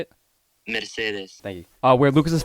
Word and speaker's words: Mercedes: of getting up there into this time called Mercedes look Lucas how you say it Mercedes thank you uh where Lucas's family owned this